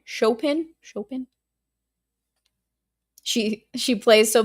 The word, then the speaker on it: Chopin: What's that little thing of I is it chopen? It's not chopen. It's chopen. Right. Chopin.